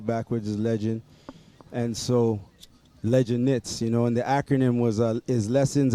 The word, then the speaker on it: Legend Knits: Yo, Legend Knits, man. Man used to say, yo, we need them Legans.